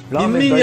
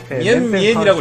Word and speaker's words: 미엔미엔: 이게 미엔 민민이 아니라 미엔미엔이라고 읽어야 될 거예요.